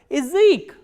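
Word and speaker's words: язык: The next type of reduction is this ya sound becomes e, like in word Ezek, Ezek. As you can listen, that ya here is not pronounced as ya, but e, Ezek. Why? Because this ya is in an unstressed position.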